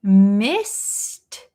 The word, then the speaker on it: missed: So, the answer is we missed missed past tense. We missed the bus. We missed the bus. So here, missed. This d e d is a little bit pronounced like a t sound, right?